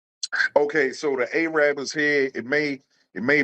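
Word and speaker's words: Arabber: Did I pronounce that right? Yeah. Yep, Charlie Rudo's. Key Highway, Araba? A-rabber.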